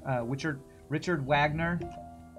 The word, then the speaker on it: Wagner: r d is rard Vagner I think would be how Germans would say Richard Vagner uh Richard Richard Wagner how Americans say it